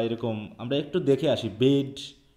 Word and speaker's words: Bede: আমরা সবাই উচ্চারণ করছি বিদে বা এরকম, আমরা একটু দেখে আসি বেড বা এই জাতীয় নামের উচ্চারণগুলো আসলে কিভাবে আছে, আমরা একটু দেখে নিই সঠিক উচ্চারণটা।